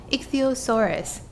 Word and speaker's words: Ichthyosaurus: Ichthyosaurus.